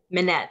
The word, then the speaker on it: Mynette: proud of you so you say minette right minette that's correct louis okay cool minette yeah so pronouncing it correctly hey emma carolina and i